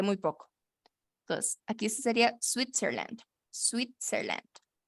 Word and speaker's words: Switzerland: Switzerland. Switzerland. Ajá, algo así sería. Les voy a poner aquí. Sweet, Switzerland, Switzerland. Switzerland, Switzerland, Switzerland. Switzerland. Ajá. Hay que, acuérdense de pronunciar esa T.